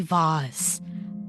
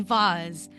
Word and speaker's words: vase: into Listen, I say vase. I AI the person say vase. Vase. You want me to say vase so rough? No. Vase. It rhymes with mace.